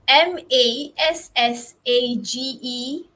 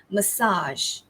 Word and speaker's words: massage: s a g e in british english it's massage okay ma first syllable stress and in american english it's now there's a difference here not only in the stress but also in the syllables so listen carefully it's ma so massage okay massage so the stress falls on the second syllable okay massage all right